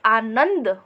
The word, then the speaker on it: आनंद: लेकिन हम बोलते हैं आनंद। तो न के बाद जो आधे न का उच्चारण करते हैं वो करते वक्त सिर्फ नाक का प्रयोग करते हैं, इसलिए हम न पर बिंदु लगाएंगे।